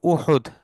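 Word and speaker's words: أحد: ওহুদ যুদ্ধ নিয়ে গাজওয়াতু ওহুদ ওহুদ উচ্চারণ হচ্ছে ওহুদ হামজা আ দাল ওহুদ ওহুদ যারা মদিনায় যান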